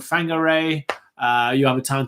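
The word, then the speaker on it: Whangārei: which have almost like many names which have wh it's actually pronounced f so you know for example you have a town called Fang Garre you have a town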